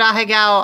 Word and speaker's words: ahegao: The expression, the two little sweat drops, is the bottom, is that a higo? Or a heigo, however you say that, at the bottom? I would pronounce it ahegao.